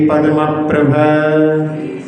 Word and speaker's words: पद्मप्रभ: हाँ, कुछ कुछ उच्चारण में देखने में आया कि पद्म प्रभा बोलते हैं, पद्म प्रभ नहीं, पद्म प्रभा, बीच में भी पद्म और प्रभ के बीच में भी स्वराघात होता है, और चंद्र प्रभ इसमें